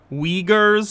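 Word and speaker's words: Uyghur: Wears is how it's pronounced.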